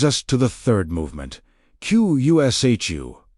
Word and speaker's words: Qushu: This brings us to the third movement, Qushu, pronounced approximately kushu, carrying the sense of knocking, after shala, asking, and Bayou, seeking.